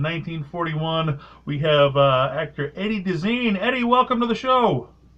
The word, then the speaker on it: Deezen: We have actor Eddie Deezen. Eddie, welcome to the show. Great talking to you, Dennis. It's Deezen, by the way, pronounced Deezen, but thank you.